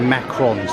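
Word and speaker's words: macarons: Saying they're macaroons, they're macrons, that's the right pronunciation for it.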